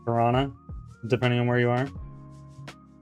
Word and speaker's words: Toronto: It's true that most Canadian people pronounce it that way, but the second T is not silent.